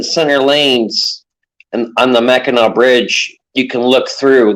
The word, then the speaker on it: Mackinac: They did something, but it keeps spelling it Mackinac, No, it's MAC Mac IN Mackinac It's not AW.